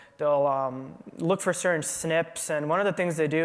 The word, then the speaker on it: SNP: one little part so the SNP is pronounced snip um so if you